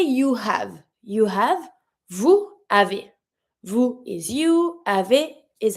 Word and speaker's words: vous avez: Vous avez. And because it's a S sound, I'm going to pronounce it and link it with a Z sound, not a S sound. Vous avez.